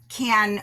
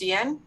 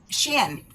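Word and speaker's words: Qian: And in September, we've got a book called A Beautiful Country, and that's by Kian Wang, W-A-N-G. Actually, her name is pronounced Xian. Xian. Okay, thank you. Xian Julie Wang.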